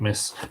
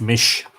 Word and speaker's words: Mis: it round she leave miss 240 I apologize it would be pronounced mish not miss mish shall a of